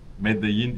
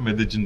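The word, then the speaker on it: Medellín: Medeyin 2 L ile ama Kolombiya aksanıyla Medeecin diye okunuyor. Meksika ülke olarak en çeşitli ülkelerden bir tanesi.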